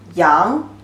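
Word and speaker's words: 羊: current shape like this a pronunciation is young means sheep young sheep and can be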